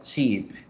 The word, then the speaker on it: sheep: es una sola vocal, la vocal larga. Entonces miren, oveja se pronuncia sheep, sheep, sheep.